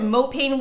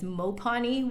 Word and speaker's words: mopane: lights on but it's uh i called it mopane wood but apparently the correct pronunciation is mopani wood um and it's the same wood that